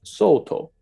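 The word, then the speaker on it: Sōtō: Sal dong in Chinese but in Japanese it's pronounced Soto so we often associate dolgin with the Soto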